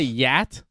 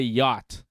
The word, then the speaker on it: yacht: the boat again uh you say yat did I say yeah yeah because most people would say yacht listen man most people